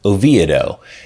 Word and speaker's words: Oviedo: It was called the Lake Jessup community, then later named Oviedo. They used the traditional pronunciation back then as a nod to the city in Spain.